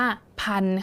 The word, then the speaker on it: พันธุ์: ตรง นี้ นะ คะ ส่วน ตรง นี้ นะ คะ ที่ มี ทัณฑฆาต นะ คะ กำกับ ธ ธง กับ สระ อุ เอา ไว้ เรา ก็ จะ ไม่ อ่าน ออก เสียง นะ คะ เรา จะ ไม่ อ่าน เป็น พันธุกรรม อย่าง นี้ ไม่ อ่าน ขาด เรา ก็ จะ อ่าน